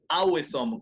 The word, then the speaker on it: awesome: Awesome, A-W, pero es A-W como O, no Awesome.